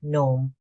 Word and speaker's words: gnome: Gnome. The G is silent.